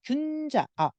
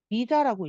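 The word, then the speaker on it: 龜茲: 그래서 그 중에서 이 균자, 여러분 죄송해요. 이거는 균자라고 읽으면 안 되고 귀자라고 읽는 게 거북귀자이기도 하거든요. 근데 귀자로 읽을게요.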